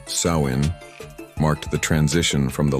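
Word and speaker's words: Samhain: Nowhere was this more true than in the Celtic lands of Ireland and Scotland where the ancient festival of Samhine pronounced Sain marked the transition from the light of summer to the darkness of winter.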